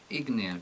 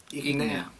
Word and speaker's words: Ignea: Ignea, creo, Ignea. porque lleva el acento en la I.